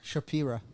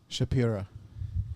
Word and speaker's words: Shapira: Shapira. Shapira? Like Shapiro, but with an A. Like Shakira, but with a P. Shapira.